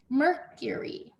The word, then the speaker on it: Mercury: noun it's a name mercury mercury okay and the y at the end says e just like my name neptune neptune neptune capital